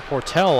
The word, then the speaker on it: Portal: today outlet to Carsten portal or port L I believe is the way he wants to be pronounced Express steal the puck